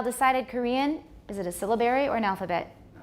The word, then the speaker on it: syllabary: syllables rather than segments stress is on the first syllable syllabary syllabary it's called a syllabary that's what we use